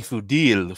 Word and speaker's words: Fudil: He pronounces it Fuddle. That sounds even worse. It's really Fudil. Phonetically, historically, traditionally, it's Fudil.